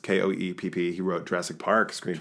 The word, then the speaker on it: Koepp: I think it's pronounced Koepp.